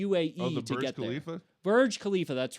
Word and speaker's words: Burj Khalifa: Burj Khalifa, that's right.